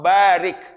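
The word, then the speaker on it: بارك: berkahi Allahumma Ya Allah barik bacanya ba-nya panjang barik Apa artinya berkah berkahilah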